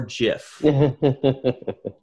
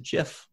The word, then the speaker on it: GIF: understand why people say gif though because it's graphic it comes it's an acronym it comes from the word graphic right it's a hard g but most people just pronounce it jif i pronounce it jif